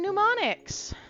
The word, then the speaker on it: mnemonics: Apparently, we're gonna learn mnemonics. That's cool. You guys know what mnemonics are, right? As you can see, you don't say the M in mnemonics. The first M.